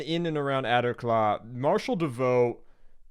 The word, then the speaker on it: Davout: As the fighting raged on in and around Aderklaa, Marshal Davout... Oh, it's Davout. I see. Okay, to me, that's not how Davout is spelled, but whatever.